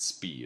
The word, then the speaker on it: Spy: neeral cranium but then another big Discovery at SP it's spelled spy but it's pronounced SP in Belgium showed multiple